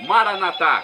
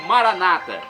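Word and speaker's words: Maranatha: eu clamo do aramaico maranat como dizemos nós católicos ou Maranata como dizem nossos irmãos separados não importa pronúncia significado é o mesmo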